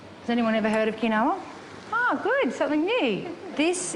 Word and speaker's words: quinoa: South America it's gluten-free some people call it quinoa in Australia but the correct pronunciation is kinoa you can get red kinoa and you can get